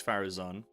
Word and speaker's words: Faruzan: The name comes from South Asia and is commonly pronounced Faruzan or Faruzan.